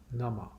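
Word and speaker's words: नमः: It's not Namaha. That ha is actually a half syllable.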